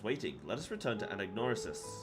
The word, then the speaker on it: Anagnorisis: Let us return to Anagnorisis. Ananorisis. I think the G is silent.